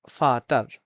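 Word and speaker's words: Vater: এর মত উচ্চারণ হয় তাহলে শব্দের শেষে এর থাকলে র এর মত উচ্চারণ হয় আর প্রায় বিলুপ্ত হয়ে আ এর মত হয়ে যায় যেমন ফাতার ফাতার ফাতার আরটা কি আর মত ফাতার আর ফাতার অথবা অথবা বেসার।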